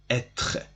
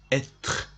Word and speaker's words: être: Okay, so the infinitive is être. The infinitive is called être. It is pronounced like that. Être, être.